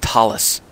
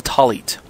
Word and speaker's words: talit: What is a talit? And just say it like the two words, tall as opposed to short, and eat as opposed to drink. So tall, eat.